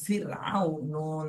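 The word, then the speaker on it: فرعون: পড়তে হবে ফুরকুন ফারতাব এরপরে র সাকিন ডাইনে জের এখানে পাতলা করে পড়তে হবে চিকন হবে ফা র জের ফির ফির ফির ফির ফিউ ফিউ এরা মোটা হবে না চিকন ফির আইন ওয়াও জবর আও ফির আউ নুন জবর না ফির আউনা ফির আউনা ফির আউনা এভাবে বলতে হবে তাহলে রদ চিকন আর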